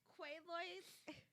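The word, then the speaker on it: Quaaludes: women what's it called keloids uh quaaloids quayloids is how you say it yes quaaloids you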